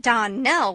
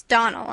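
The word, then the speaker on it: Donnell: dreams often is not as for that Don Nell woman she'll get no Don nelling from me I can assure you the name is Donal and always has been the woman is crazy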